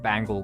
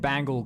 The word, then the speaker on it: Bangle: Yeah, it literally got Groob Bangle Quim. Literally spelled the same way. No, it's Bangle, not Bang L.